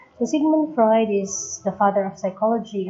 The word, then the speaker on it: Sigmund Freud: This is again Sheena Maria Pad, and I will be discussing to you Sigmund Freud, and other pronounce it as Simon Freud. So Sigmund Freud is the father of psychology as well as the father of psychosexual theory of development.